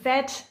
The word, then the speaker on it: vat: with some kind of we call it ved. yes. Yeah, it's Yeah. You spell it VAT in Danish, but it's got nothing to do with Yes.